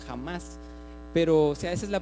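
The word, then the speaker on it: חמס: una traducción de una palabra hebrea que se pronuncia jamás pero si a veces la pronunciación en hebreo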